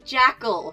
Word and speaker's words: Jekyll: set up here that the way most people in America pronounce Jekyll is Jackal here uh that's why we